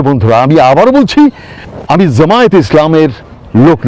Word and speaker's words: জামায়াত: প্রিয় বন্ধুরা, আপনারা নামটাও শুদ্ধ করে উচ্চারণ করুন, শুধু বলেন জামাত। জামাত মানে কি? জামাত মানে তো গ্যাদারিং। তো ওটা কি গ্যাদারিং ইসলাম নাকি? গ্যাদারিং মানে সবাইকে জমা করে জামায়াত, জামায়াত ইসলাম, জামাত না।